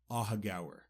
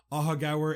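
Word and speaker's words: Aughagower: a hug hour and first how you spell it a u g h a g o w e r aaga just so you can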